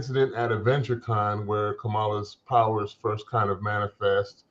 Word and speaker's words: Kamala: She's checking people on mispronouncing her name. Finally. Yeah, he keeps messing up. And he's like, it's actually Kamala.